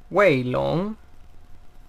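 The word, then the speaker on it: WeiLong: reemplazó el sanchis y la manera correcta de pronunciarlo es waylon weylandt así tono sostenido whale long subiendo y esta es una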